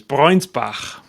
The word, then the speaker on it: Breunsbach: So I don't know if you know, but the actual pronunciation of your last name is Breunsbach, which sounds very authoritarian. Yes, because usually there's an umlaut and it's got So I'm with you.